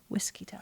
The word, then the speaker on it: Whiskito: whiskey and then T I guess it's for witch but it's whiskito I was thinking like mosquito whiskito mosquito whito um so yeah